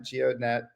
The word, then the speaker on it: GEODNET: Is the D is the D silent? How do you say I struggle when I hit that D every time? Geodet. It's a It's a mouthful. Gnet. Geodet.